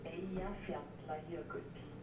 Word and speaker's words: Eyjafjallajökull: The real network is calling out Icelandic Pronunciation is Eja fjalla jökull. Now I get it. The glacier is called Eyjafjallajökull. Am I pronouncing that correctly? Nearly. Nearly.